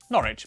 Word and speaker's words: Norwich: stir leicester worcester gloucester w at the start of the final syllable is silent norwich beric southwark er is